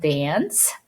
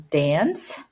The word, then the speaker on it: dance: a soft sound and C's gonna have a soft C sound which is s whenever is followed by letter I like this or a letter e so that's why this is called dance or this is pronounced